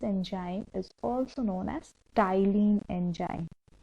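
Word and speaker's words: ptyalin: is also known as styline enzyme p t y l i n okay where p is silent so how you will pronounce it that is styling not pachyla okay so that salivary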